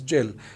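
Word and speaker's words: gaol: The pronunciation of jail is different. Jail, this is a French word. And he and the others, spelling is different, but it will be pronounced as jail.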